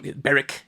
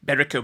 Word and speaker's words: Barack: And they always say his name wrong. Barack Barack Obama. It's like, if if the homie calls himself Barack, I'm going to call him Barack.